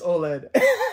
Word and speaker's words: OLED: lights how do you say it OLED it's OLED OLED gab btes adjustable stand oh it's very